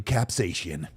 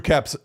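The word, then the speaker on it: Karpyshyn: Drew Carpishian is how you say it.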